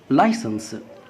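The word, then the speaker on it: license: هنا طبعا بالنسبه لللايسنس الاي اللي بتاخد صوت اللام، والاي ياخد صوت الياء، والسي بياخد صوت السين. لماذا؟ عشان حرف السي ينطق سين اذا جاء بعد منه حرف الا او الاي او الواي، والان صوت النون، والاس صوت السين، والا طبعا اذا جت اخر حرف الكلمه تكتب ولا تنطق.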